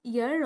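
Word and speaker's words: heir: यहाँ पे है dash ईयर of this kingdom. तो यहाँ पे क्या यूज होगा, यहाँ पे एच साइलेंट है, ठीक है, इसको ईयर बोला जाता है, ईयर, ठीक है।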